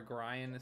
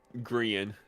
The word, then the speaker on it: Grian: Gran stress monster 101 and Python GB. Grian is how you say that one.